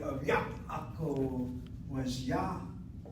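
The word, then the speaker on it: יעקב: Instead of Yaakov, Yaakov. You say Yaakov, the way you people speak Hebrew, sounds like this. It really does. The ayin is gone. You don't say the ayin at all.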